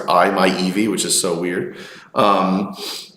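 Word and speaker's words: i-MiEV: a Mitsubishi image which is actually how you pronounce that car it's I my Eevee which is so weird um um but as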